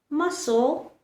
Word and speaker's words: muscle: Muscle, seen, fascinate. Only pronounce the S, not the C.